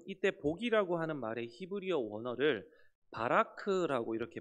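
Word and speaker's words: בָּרַךְ: 인에게 복을 주시는데요 이때 복이라고 하는 말브 원어를 바라크라 이렇게 발음을 합니다이 단어의 의미는요 흔히 우리가 이해하고 있는이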